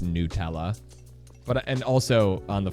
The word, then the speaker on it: Nutella: But the Nutella brand has clarified that it is pronounced Nutella.